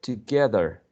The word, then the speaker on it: together: ge, the, together, or together, okay? Together or together. So here, a schwa, here a schwa, and in the second syllable, this one is the stress one, okay?